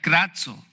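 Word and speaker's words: κράζω: Esta palabra, en el versículo 50, es una palabra que se pronuncia krazo.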